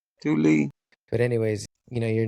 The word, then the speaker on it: Thule: Look right there, Thule. Do you see that? The pronunciation. Thule.